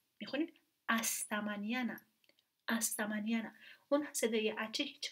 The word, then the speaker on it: hasta mañana: این حرف با اینکه نوشته میشه ولی هیچ وقت تلفظ نمیشه. مثلا ما اینو نمیخونیم هستمانیانه، میخونیم استمانیانه، استمانیانه.